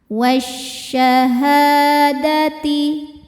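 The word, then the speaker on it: الشهادة: lam ketemu huruf syamsiyah yaitu shin maka alif lam tidak dibaca, kita masuk langsung ke shin atau disebut idgham ya, idgham syamsi. Wasyahadati. Ha hukumnya mad tobi'i dhohiri sebab ada alif sebelumnya baris fathah. Dibacanya panjang 2 harokat.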